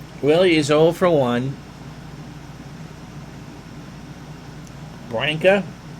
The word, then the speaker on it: Branca: is all for one branca rhymes with sanka wines and deals there's